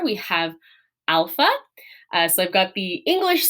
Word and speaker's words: alpha: But alpha, all right, alpha is pronounced kind of like our ah sound, like our short A sound.